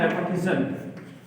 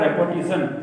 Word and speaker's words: repetition: English में बोलते हैं रेपिटेशन। Smile and smile and smile, ये वर्ड है रेपिटेशन हुआ है, REPETITION। प्रोनाउंसिएशन होता है रेपिटेशन, नॉट रिपीटेशन, रेपिटेशन।